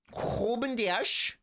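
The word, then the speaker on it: Rúben Dias: Ruben Dias. That's how you pronounce his name.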